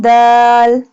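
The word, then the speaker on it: دال: Dal pronounced from the tip of the tongue touching the roots of the top two front teeth.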